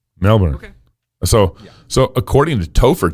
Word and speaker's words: Melbourne: little bit weird because i do say melbourne and it says that little teeny tiny r in there milburn melbourne so so according to